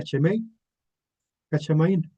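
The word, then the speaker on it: שמי השמים: Este concepto se este concepto se pronuncia chemei cachamaín o los cielos de los cielos.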